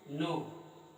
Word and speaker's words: know: अगला आपका देखेंगे KNOW, इसमें के साइलेंट है, इसको पढ़ते हैं नो।